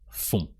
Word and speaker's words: font: So with a silent T, just font.